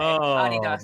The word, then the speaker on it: Adidas: Europeans pronounce it the German way. Adidas.